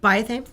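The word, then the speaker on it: Biothane: But the nice things about these long lines in particular, they're made out of bioane. So they're made out of what? Bioane.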